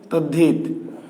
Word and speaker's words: তদ্ধিত: Is equal to কি তদ্ধিত। এখানে কোনো সমীভবন ঘটেনি। আসলে পরিবর্তিত রূপটি দেওয়া নেই, পরিবর্তিত রূপটি দেওয়া নেই। দেওয়া আছে ত দয়ে ধয়ে রস্যইটা, কিন্তু আমরা উচ্চারণ করি তদ্ধিত।